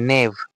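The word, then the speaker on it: knave: plus হচ্ছে এন এভিই নেভ আরেকটা আছে কি এন এ আইভি নেভ এবার বলছি এখানে দেখ কে এক্সট্রা করে আছে কে কিন্তু কোন উচ্চারণই হয় না কেটা কি থাকছে কেটা সাইলেন্ট থাকছে আর এন এভিনে বলছি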